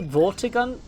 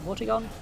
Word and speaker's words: Vortigaunt: Like, there was a Vortigaunt. I think that's how you pronounce it. Vortigaunt. Earlier. Vortigaunt.